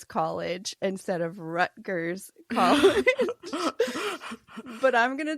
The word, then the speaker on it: Rutgers: um and uh it was because I said root G college instead of rut G college but I'm going to tell you as